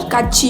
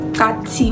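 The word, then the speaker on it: 같이: For example, the word kachi, you can obviously say kachi, but if you don't know the correct pronunciation, you call it kati, whereas it's not correct.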